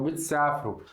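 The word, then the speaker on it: بتسافروا: Porém, a gente não pronuncia o alef, a gente só pronuncia o uau. Então bitsafru, vocês viagem, né?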